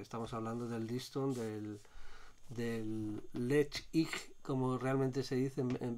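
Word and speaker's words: Ledaig: un trío porque estamos hablando del listón del lecht como realmente se dicen en vez de le dais porque le dais significa Refugio seguro y en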